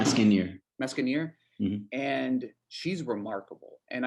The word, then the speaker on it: Meskienyar: Meskienyar.